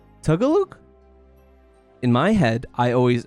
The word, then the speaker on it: Tagalog: American growing up eating Girl Scout cookies, it's Tagalog? In my head, I always pronounce it Tagalog because the Girl Scout cookie was Tagalongs, and I always just pronounced it that way, but it's Tagalog, and that's something I never actually knew that